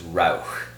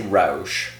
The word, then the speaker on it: Rauch: this correctly so it's Rauch r-a-u-c-h if you say rosh rosh means intoxication in German so it's not going